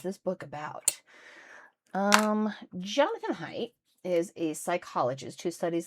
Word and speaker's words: Haidt: His name is pronounced Haidt, I found out.